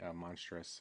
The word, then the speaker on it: Monstrous: Some people have a hard time spelling monstrous verse, but it's monstrous. A lot of people misspell that. So it's Monstrous. Mm-hmm. It's not monstrous. A lot of people throw an E in there.